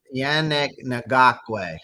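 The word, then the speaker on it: Ngakoue: How to say Yannick Guaku. Yannick Guaku? How do you pronounce it? Yannick Ngakwe.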